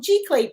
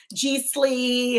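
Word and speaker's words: giclée: print uh art tea bear butchered it by calling it g sleeve and that's all right even i had problems with it at first but it's actually how you would say it's french you know pretty much everything all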